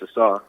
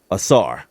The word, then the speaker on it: Ausar: Tell me the correct pronunciation of your name. It's Ausar. Ausar.